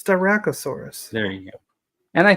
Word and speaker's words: Styracosaurus: Can you pronounce that for me? it's Styracosaurus.